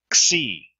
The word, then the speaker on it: xi: Xi, xi. The X as in axe, axe, xi.